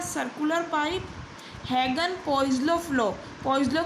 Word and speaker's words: Poiseuille: पोइसलो की स्पेलिंग क्या है आप लोग देख सकते हैं, POISEUILLE, ठीक है।